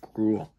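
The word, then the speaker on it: Groulx: retro of benoit olivier cruel i'm probably i'm pretty sure it's pronounced like gruel like growl um growl rival sorry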